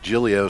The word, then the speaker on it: Gillio: He pronounces it Jillio, so I'm not sure if she's Jigglio or Gillio.